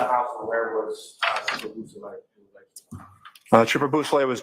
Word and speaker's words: Bousselet: Could you say that name again and spell it for us, Yes, please? sir. It's Trooper Jason Bousselet.